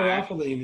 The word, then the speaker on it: caryophyllene: Caryophyllene is how they pronounce it.